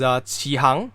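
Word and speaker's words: 起航: In Mandarin, it is pronounced as Qihang, which means set sail, literally.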